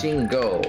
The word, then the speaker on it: Shingo: them so far yeah but it's Shingo it's like go get him let's go anyway as